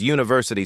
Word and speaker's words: university: Because university starts with the U sound. That is a consonant sound.